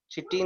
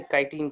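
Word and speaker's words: chitin: काइटिन, काइटिन option में है, देखो तो, चिटिन नहीं, काइटिन कहते हैं, okay, it is pronounced as काइटिन।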